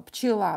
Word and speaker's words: пчела: Пчела, правильно, Марк. Пчела. Ударение на букву А. I is stressed, so E will be pronounced as E.